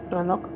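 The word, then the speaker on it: Roanoke: Les hablaré de Roanock, ¿cómo se pronuncie? Ranoc. Ranock, la colonia perdida y lo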